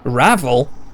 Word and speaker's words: Ravel: forgot poor lonely ra Ravel like unravel Ravel H but